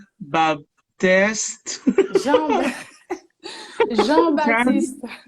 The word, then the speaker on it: Jean-Baptiste: How do you pronounce it? Asmide? Asmide. Asmide Baptiste. Jean... Jean, Jean-Baptiste. Jean-Baptiste.